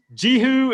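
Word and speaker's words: Jehu: papers can be uh jihu is the preferred pronunciation here it's probably not great but it's probably the one that works best for us so jihu son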